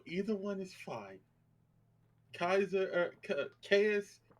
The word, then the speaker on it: Caius: Kaiser, Caius, and they come from the word Gaius, so technically the correct pronunciation is Caius, but Caius.